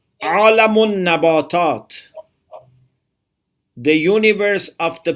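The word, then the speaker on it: عالم: Alam, which is written like alim, but it's pronounced differently. Alam.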